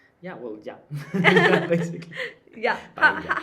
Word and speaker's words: paella: So the double L in Spain is a ja. It's a ja. It's a It's L Y. sound. It's not an L. It's a ja. Like writing. Yeah. Well, yeah. Basically. Yeah. Paella.